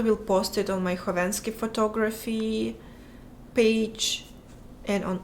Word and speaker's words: Khovanski: The K is silent in your last name. It is silent. It's Khovanski. Because I added K because KH is meant for the H sound in English.